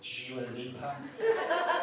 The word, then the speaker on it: Dua Lipa: It's not Dua Lipa, it's Dua Lipa.